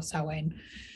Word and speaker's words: Samhain: Man where it's spelled sowing so they're all pronounced sowing or so in it's believed to have Celtic pagan origins and